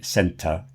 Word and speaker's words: centre: So don't pronounce it RE. If you want to pronounce it, it's pronounced ER. And it's probably so you're not really pronouncing the R anyway. And often the stress is somewhere else. So if I say centre, it's just a little on the end. It's not really making much of a noise at all. But don't try to pronounce it as if it's RE.